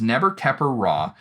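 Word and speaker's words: Nebkheperure: But the pronunciation is Neber-Keper-Ra, and the reason for this is because the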